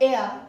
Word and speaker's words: heir: जैसे वो इस किंगडम का उत्तराधिकारी है, तो ही इज द एयर of this kingdom. तो यहां पे लिख सकते हैं ही इज द एयर. ध्यान रखना है इसमें H is silent, of the kingdom.